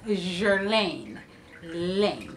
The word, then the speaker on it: Guerlain: say this that the other she says it's Jeran Lane so that's how I'm pronounce in it jerine so I picked up three products from them